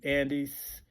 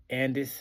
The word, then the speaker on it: Andis: shorter list they basically Andes Andis however you want to pronounce that I get a lot of flack about what's the proper way of pronouncing that but a n